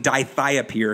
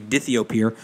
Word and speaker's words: dithiopyr: We got people mispronouncing dithiapyr because it's supposed to be dithiopyr.